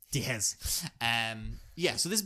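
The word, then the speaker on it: Diehz: Diaz it's a Diaz but it's pronounced d it's spelled D I E HZ Dez Dez um yeah so this is based on a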